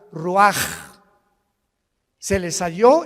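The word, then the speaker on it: רוּחַ: Se pronuncia la ch en hebreo como J. Roaj, se le halló y se traduce espíritu.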